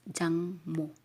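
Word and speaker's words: 장모: So, you are going to read that one as jangmo.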